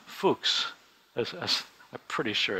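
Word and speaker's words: Fux: His last name is actually, it's kind of awkward, but it's pronounced Fuchs. I'm pretty sure it's Fuchs.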